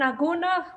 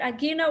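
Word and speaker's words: agunah: a term for it called an aguna the way we pronounce it agina which means chained the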